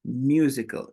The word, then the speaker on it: musical: So if you do this, because I could hear you pronouncing you, musical, musical. So that's a 4 sign. J and U, mew, mew, mew.